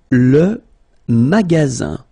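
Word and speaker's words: magasin: it means Small Change magaz magaz okay remember you've got Only One S between two vowels then you get the sound Z all right and then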